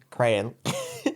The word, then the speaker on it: crayon: said crayon like crayon crayon print yeah and uh bloke was there going never have i no one says it like that it's crayon it's two syllables like a cray twins yeah oh yeah no